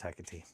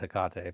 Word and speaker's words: Hecate: I believe it's Hecate, according to her. I always said Hecate, but I also said prescience instead of prescience.